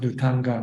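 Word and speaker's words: Dhutaṅga: Pali pronounced Dutanga, but in Thailand we shorten it to Tudong.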